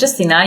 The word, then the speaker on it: Justyna: background in marketing okay so my name is Justina you pronounced it perfectly I'm so impressed so yeah